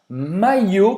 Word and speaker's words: maillot: Sim, vem uma palavra francesa que é un maillot, que se escreve assim com 2 L, tem o O e tem o T que é mudo, un maillot. Un maillot, hein, como se fosse aqui um I longo, un maillot.